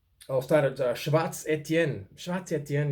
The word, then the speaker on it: Schwarz Etienne: Schwarz Etienne is Schwarz is German, Etienne French as a name.